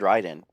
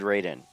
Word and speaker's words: Raiden: I said it wrong probably because Mortal Kombat has a character that's probably said rden but no internet and kids just said Raiden he knows a great